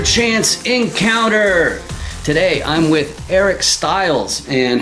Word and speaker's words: Eric Stiles: this is another chance encounter today i'm with eric styles and how are you doing today eric hey